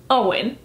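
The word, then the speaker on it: Eoin: books as a kid I called him a Owen colfer but he's Irish you say his name Owen now I know what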